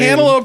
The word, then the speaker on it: cantaloupe: it's cantaloupe I mean cantaloupe does not rhyme with candle it rhymes with analou she doesn't say anope